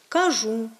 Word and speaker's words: кажу: кажу і інші слова в літературній мові маємо наголошувати такі дієслова на останньому складі кажу ношу прошу та інші Ми маємо